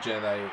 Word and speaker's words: Jedi: in particolare Star Wars Jedi Fallen Order. E non Jedi, come dice Sabaku. Porca puttana, Michele, io ti amo. Però, come poi di Jedi, che hai sbagliato sia la vocale che l'accento.